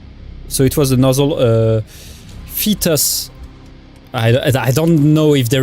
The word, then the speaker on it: Phaetus: So it was the nozzle fetus. I don't know if there is any way to pronounce that good.